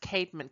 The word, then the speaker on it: Caedmon: is an example of a short poem by Cadman who's the first power this is the first poem in English that's recorded and if any of you know the Christian band it's all usually pronounced Caedmon came with Kaitlyn's call this is the call